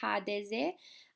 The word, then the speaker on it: HDZ: during today's presentations are HDZ or HDZ. I will pronounce it like Croats do during the presentation.